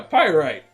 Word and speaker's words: Pyrite: okay that's better yeah pyrite you know like the rock but also you know like the people on the seas pirates pyrites that's that's how you say it i've only ever seen